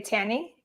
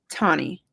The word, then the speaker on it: Tany: So, am I pronouncing your name correctly when I say Tanny? Tonnie. Tonnie, excuse me.